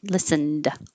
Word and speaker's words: listened: vowel after it um listened all night listened listened no t listen that's it i hope